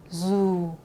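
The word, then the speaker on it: dù: 또 도망가실 텐데, 자, 이게 북쪽에서는 D를 지읒을 읽고 남쪽에서는 E라고 읽거든요. 그래서 이 단어 사실은 남부 단어라서 유 이렇게 읽는 게 이제 맞긴 맞는데, 이제 연습을 위해서 북쪽 사람들이 읽게 되면은 zu라고 읽게 됩니다.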